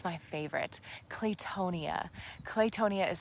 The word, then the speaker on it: claytonia: very unusual green but it's my favorite claytonia claytonia is spelled c a c l a y t